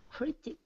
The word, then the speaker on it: critic: Critic, where's the syllables? The first. Yes, all right, very good. Critic. Yep, and notice the, again, the IC, very, very much a standard suffix, and it has more of a I sound, not criduck, critic.